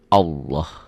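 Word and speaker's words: الله: Indonesia kan lain lagi Ini jadi Allah ada w-nya seperti bunyi o bila didahului oleh huruf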